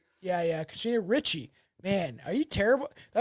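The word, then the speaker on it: Ricci: It's Christina Richie. That's how people say R I CI.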